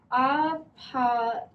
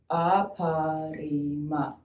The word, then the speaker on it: Aparima: Aparima. Your turn. Let's try that again. Aparima.